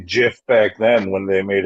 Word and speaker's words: GIF: butter nah that was gonna wha what was jiffy was good peanut butter yeah oh yeah it